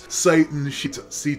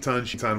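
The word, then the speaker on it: Citan: And it's spelled with a C because otherwise they would need to spell his name S-H-I-T-A-N.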